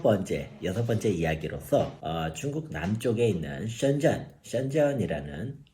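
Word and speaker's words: 深圳: 예, 중국의 5번째 집갈시가 어디가 될 것이냐, 이 주제를 가지고선 드디어 이제 여섯 번째 이야기로서 중국 남쪽에 있는 션전이라는 우리식으로 읽으면 심천이라고 읽더라고요. 심수라고 안 읽고, 예, 그 션전이라는 이 도시에 대해서 한번 저희가 한번 같이 살펴보도록 하겠습니다.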